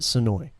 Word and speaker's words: Senoia: So the town calls it Senoia. They can tell whether or not you're from here or out based off of how you say it.